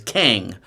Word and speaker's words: Kang: Or I keep on calling him Kong because I've been to China. And Kang is like Kongor, Kong Chao. It's spelled the same way. So I tend to say Kong when it's Kang.